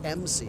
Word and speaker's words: Macy: It's pronounced MC, and I should have corrected myself earlier on.